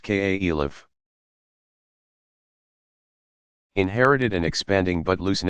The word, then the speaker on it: caliph: you Mohamed's immediate successors called caliphs pronounced ka Elif inherited and expanding but